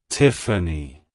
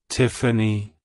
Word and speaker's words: Tiffany: theophania it's pronounced as Tiffany Tiffany Tiffany to pronounce it correctly emphasize the first syllable Tiff and then the second